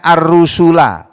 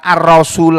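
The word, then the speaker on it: الرسل: semua Rasul perhatikan ini ini bacanya ar-rusul bukan ar-rasul a Bukan ar-rasul tapi ar-rusul ini jamak jamak dari ar-rasul lu kalau satu ar-rasul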